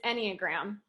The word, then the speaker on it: Enneagram: You pronounced it right. It's Enneagram.